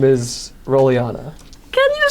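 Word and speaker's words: Rollyana: what is your name name my name is rolana can you spell that r o l l y a n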